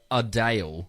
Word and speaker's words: Adele: celebrities okay wow so so Adele right she would rather people call her adale no way no they